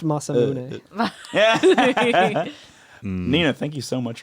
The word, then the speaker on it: Masamune: It's pronounced Masamune.